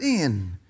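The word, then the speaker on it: ἐν: The first word is the word in, E-N, pronounced in, which literally means on, at, or by.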